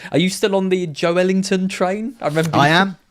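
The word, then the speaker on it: Joelinton: And he's got him saying it's Joe Ellington. Ellington. That's the way it was. Think of it like he's Duke Ellington's son, Joe Ellington.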